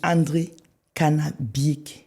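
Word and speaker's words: André Kana Biyik: Alors, quand on prononce ton nom, oui. On dit André Kanabik.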